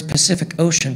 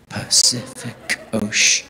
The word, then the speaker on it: Pacific Ocean: It's like, why are none of the letters C's in the words Pacific Ocean pronounced the same? Pacific Ocean. Oh my goodness. None of the C's are pronounced the same.